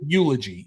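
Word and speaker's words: Yewlogy: It's Eulogy. Eulogy is the name of it. And Eulogy is spelled Y-E-W, like the U from the tree.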